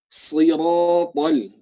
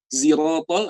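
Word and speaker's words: صراط: Siratal ya. Meskipun tadi juga ada yang bacanya ziratal, ada yang bacanya ziratal, ada yang bacanya siratal gitu, pakai sin. Tapi karena kita di Indonesia pakainya sad ya.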